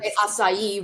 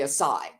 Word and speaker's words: Asayi: either way either way asai which is correct in terms of Japanese and then when I talk about it here we say aai so okay country you're